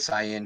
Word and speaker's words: CIN: Central Intelligence Network, and it's CIN, but they pronounce it SIN because they're such assholes.